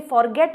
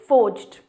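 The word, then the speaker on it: forged: कई बार स्टूडेंट्स इसकी प्रोनाउंसिएशन काफ़ी गलत करते हैं, इसे फॉरगेट बोल देते हैं या इसे काफ़ी गलत प्रोनाउंस करते हैं। Pronunciation is फोर्ज्ड।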